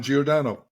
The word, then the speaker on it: Giordano: I said it right first it's could be jordano geodo whatever floats your boat it's okay how would you pronounce it uh geordano okay perfect so welcome to the podcast I